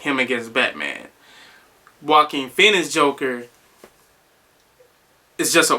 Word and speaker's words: Joaquin: But to get into the movie, like I said, Joaquin Phoenix, it sounds like I'm saying Walking Phoenix, but I'm not.